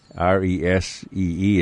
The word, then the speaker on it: Reese: Resee is how it's pronounced.